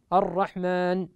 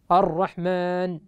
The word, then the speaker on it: الرحمن: نطبق على الإشمام في كلمة الرحمن بحيث يراك المبصر دون الأعمى ولا يسمعك المبصر تنطق بحركة ذلك الحرف، فبعد أن تقف بعيدا تقف على الحرف تشم بشفتيك بالضم إشارة إلى حركة ذلك الحرف فتقول الرحمن الرحمن، بحيث تضم الشفتين أصلها